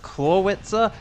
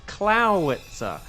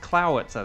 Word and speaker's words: Clawitzer: And if you're saying, "Isn't it pronounced Clawitzer?" That's what I thought until I learned it's Clowitzer.